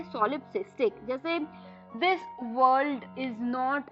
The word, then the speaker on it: solipsistic: SOLIP सॉलिप, सिस SIS TIC tick, सॉलिपसिस्टिक, सॉलिपसिस्टिक।